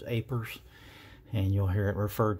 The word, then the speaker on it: APRS: presentation is aprs and most ham operators will just pronounce it as apers and you'll hear it